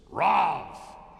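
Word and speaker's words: רב: enough that's four syllables the original Hebrew is just one syllable it's Rob it's not even like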